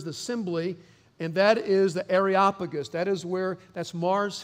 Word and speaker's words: Areopagus: arop pagus place so the Texas pronunciation of this is arop pagus for the rest of the world it's areopagus okay so that's the